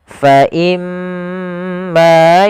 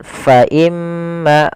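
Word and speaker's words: فإما: Fa imma, pada lafal imma di sini ada huruf mim yang berharakat tasydid, kita hukumi dengan bacaan gunnah. Cara membacanya adalah menahan suara gunnahnya. Fa imma, tidak langsung fa imma. Kesalahan yang sering terjadi yaitu dia tidak menahan gunnahnya, langsung fa imma. Ini salah. Yang harusnya adalah fa imma, ditahan dulu.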